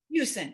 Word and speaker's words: Huson: Huson. It is Huson. Huson. Yeah. Nobody pronounces that right. Nobody. Houston, like Houston without the T.